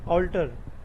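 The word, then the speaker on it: alter: ठीक है ना, प्रोनाउंसिएशन ऑल्टर।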